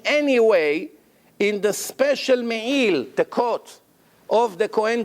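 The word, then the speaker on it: מעיל: Really the right way to say it's me'il, im ayin. Ayin, it has to come from the throat. Some people, they don't separate. They say me'il with aleph, it's not correct.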